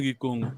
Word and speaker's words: Kikongo: Attends, je suis en train de Kikongo, voilà, faut vraiment prononcer Kikongo.